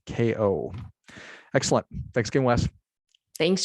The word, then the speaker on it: Kao: Wes and it's k-a-o it's pronounced KO excellent thanks again Wes